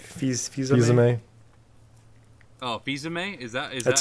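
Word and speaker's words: Fils-Aimé: Oh, Fizame? Is That's that how you Yeah.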